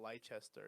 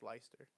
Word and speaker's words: Leicester: Like it's not Leicester, it's Leicester. Oh, You yeah.